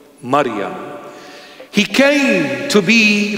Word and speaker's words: Maryam: Or in the proper pronunciation, in Hebrew or Syriac or Aramaic, Maryam. Wow. It's so sweet when I call her Maryam. That's the correct pronunciation of her holy name, Maryam.